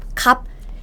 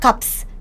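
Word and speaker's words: 값: cup cup cup is even though there's s sound here it's just b right cup cup it's not cups cups cup cup cup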